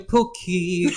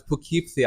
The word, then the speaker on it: Poughkeepsie: And when I'm back in Poughkeepsie, I feel it. I don't think you're Y'all. saying it right. No, it's Poughkeepsie.